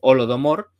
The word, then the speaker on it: Holodomor: sería como el holocausto de hambre, que se pronunciaría pues Holodomor, y que sería la referencia a esa hambruna de los años 30.